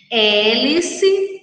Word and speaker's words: hélice: E quando nós pronunciamos, nós não escutamos o som da letra H. Nós só escutamos o som das vogais que acompanham a letra H.